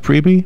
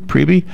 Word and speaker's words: Priebe: Is it pronounced Priebe? Priebe? Yeah. It is. Okay. Chef Craig Priebe, good morning.